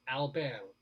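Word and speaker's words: Albin: by the way i kid you not is pronounced alban yeah just keeps giving a given in saudi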